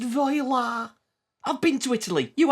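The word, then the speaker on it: voilà: Voila. It's pronounced voila.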